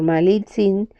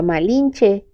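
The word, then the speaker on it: Malintzin: La única persona de nuestra raza con quienes estaban más ligados era con la mujer que se hacía llamar Malitzin, pero hasta su consorte Cortés invariablemente pronunciaba mal ese nombre que ella había asumido llamándola Malinche.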